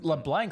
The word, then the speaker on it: LeBlanc: LeBlanc, like the Friends character, like Matt LeBlanc.